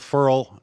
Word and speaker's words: Ferrell: the fact that both Ferol it's pronounced parole by the way and Lawrence didn't really